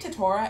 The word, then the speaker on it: Tetora: We stand Tetara in this house. Isn't it Tetora? Am I just saying his name wrong?